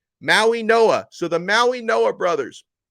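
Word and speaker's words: Mauigoa: that I'm I'm pronouncing most people are pronouncing their last name wrong even though it's spelled the way it is it's Maui Noah okay so you guys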